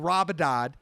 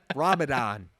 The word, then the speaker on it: Ramadan: not eating during the day he was absorbing rabidad and he would only eat his sundown and apologize to the smell butchered that name but we're trying to say it fast in the shmo like way ramadan and uh below the snow remembers your name